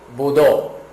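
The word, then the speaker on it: ぶどう: uva no japonês é budó budó quando tiver esse acento aqui é porque nós temos que pronunciar de uma forma mais espaçada significa que esse o é como se tivesse dois o né BD ok isso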